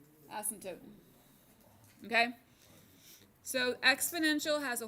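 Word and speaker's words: asymptote: the x- axis and here's the word asot that's a silent P just to make things difficult ASM toote okay so exponential has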